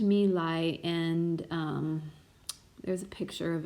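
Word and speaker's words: My Lai: then the exposure the my meal i massacre so it's pronounced to me lie and there's a picture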